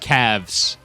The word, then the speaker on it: Cavs: hydrant I think of Cavs pronounced calves I think of thighs